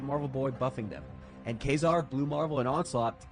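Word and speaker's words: Ka-Zar: is a Victoria hand card generation Kazar is how it's pronounced.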